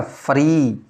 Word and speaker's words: फ्री: और फ में कोई स्वर नहीं है तो फ। तो ये क्या हो जाएगा? फ्री। क्या हो जाएगा? फ्री। ऐसे उच्चारण करने के लिए लिखा है, वैसे ये कोई शुद्ध नहीं है, लिखने में तो ऐसे ही लिखा जाएगा, लेकिन ये उच्चारण के समझने के हिसाब से लिखा है मैंने फरी, क्योंकि फ आधा है और री पूरा।